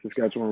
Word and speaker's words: Saskatchewan: How do you pronounce their first name? Saskatchewan Rough Riders.